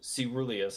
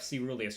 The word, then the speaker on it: caeruleus: Ceruleus, I think. Oh, like coelacanth. Yep, caeruleus. You are correct. That's a soft C.